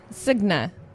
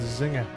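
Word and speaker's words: Zynga: I always went with Zinger Zinger yeah that sounds easier Zig isn't zy GNA yeah Z GNA zna yeah but g n is n z silent g z zner z they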